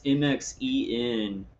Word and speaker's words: MXene: I don't know how to pronounce it. I guess MXene. It's MXene. It's a fabric being developed to stop Havana syndrome attacks. MXene, and this is from.